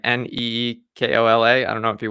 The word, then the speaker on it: Nikola: He pronounces it Nikola, like Neekola.